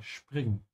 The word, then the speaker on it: springen: And springen, just like stören, when the S comes before a P, it's pronounced like sch, yeah, springen.